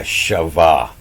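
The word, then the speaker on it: חַוָּה: you know that that's they say that's pronounced a shavah I don't know how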